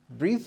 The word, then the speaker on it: breathe: this is the noun there is difference in the spelling and difference in the pronunciation to breathe and this one breath so when you have